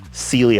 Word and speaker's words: Cyelee: This company, Cyelee Optics, S-E-E-L-E-E for pronunciation, because I see a lot of people call it Cyelee Optics.